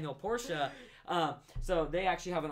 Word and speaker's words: Porsche: true another thing Porsche is actually please don't pronounce it wrong Porcia so they actually have an all they have